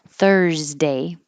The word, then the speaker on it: Thursday: by a voiceless t this s sounds like a z followed by a voiced d thursday and then you put